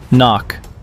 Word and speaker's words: NOC: Non-official cover. Knock. Pronounced knock.